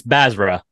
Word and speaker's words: Basra: actually forgot to ask you it's uh it's bazra bazra okay we're here with Nick bazra we're